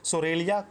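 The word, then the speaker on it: Psoralea: व है Latin name सोरेया curly फोलिया इसका पी साइलेंट है ठीक है प सरलिया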